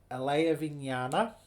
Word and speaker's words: Alayavijnana: And how do we pronounce it again? Alayavijnana, storehouse consciousness.